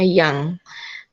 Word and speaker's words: young: And then sepertinya itu young, bacanya young. A ya, OU-nya jadi A, young.